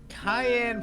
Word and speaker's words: Cayenne: Cayenne pronounced like a pepper.